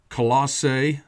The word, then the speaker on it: Colossae: that's colise and um you know we've got colossae and that's probably the best way to pronounce it you've got coliseum and then people